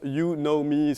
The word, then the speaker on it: Unomi: partie des services donc au niveau de l'unami donc là j'ai juste dit ça c'est pour les surtout pour les américains donc ça se prononce yunomi s'est voulue ans et